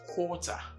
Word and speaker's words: quarter: Unlike the previous ones, which took relatively shorter vowel, o, not necessarily rounded, but this one is a longer vowel, o. Okay, so is what? Quarter, but the others like quality.